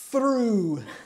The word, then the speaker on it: through: That's TH. Then you have to add in the R sound. Through.